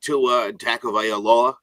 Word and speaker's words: Tua Tagovailoa: At number 5, the Miami Dolphins did take Tua Tagovailoa, which – oh, nice.